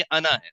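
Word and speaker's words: أنا: ना, इसको आपने ये यहाँ पे आपने अलिफ को लंबा नहीं करना। अगरचे ये नून जबर अलिफ लिखा हुआ है, लेकिन ये जो अलिफ होता है ये साइलेंट होता है, इसको नहीं पढ़ा जाता।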